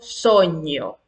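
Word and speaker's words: sogno: La G con la N se pronuncia como la ñ en español. Ejemplo, soño, España, campaña, compañí, añelo.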